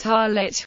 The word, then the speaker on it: tallit: the word is pronounced harlot with the stress on the final syllable in yiddish it is